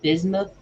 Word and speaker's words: bismuth: Jesus related and then he was talking about bism u t h bismuth I think it's bismuth Stone um in